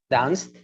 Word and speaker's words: danced: And what is the sound of the last syllable? Dance. S. S. S. So it's not danced. Teacher, the last Friday I was with a girl and we danced a lot. No. You danced.